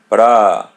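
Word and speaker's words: prazer: Braz letter R is pronounced as English R.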